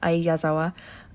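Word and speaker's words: Ai Yazawa: sorry I need to see her how to pronounce her name I uh I yazawa yeah a yazawa um and she created the manga and that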